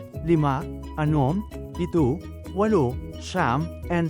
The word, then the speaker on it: lima: LIMA is 5 in Bicol. Change I to the American letter, E, and A to AH, then pronounce it as Lima.